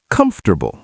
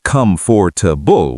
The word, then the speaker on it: comfortable: Native speakers usually say comfortable. We squish it together. Comfortable. Comfortable. That's so fast. Yes. We don't say come for to bull with clear syllables. We say comfortable like one quick word.